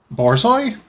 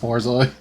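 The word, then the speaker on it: Borzoi: really fancy p-o-r-z-o-i yeah I thought it was pronounced like Bourgeois or something I've only ever heard it pronounced parsley wow well like I'm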